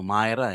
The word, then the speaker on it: Myra: Alam mo ang palaging sinasabi ko rot to Mira theater pero ang pronunciation pala nila ata Myra eh. Myra theater.